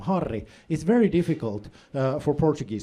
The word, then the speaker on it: Harri: difficult for Portuguese speakers because in Portuguese if a word starts with an H, you don't pronounce the H. If there's a double R in the middle of a word, it turns into this weird throat sound like My name sounds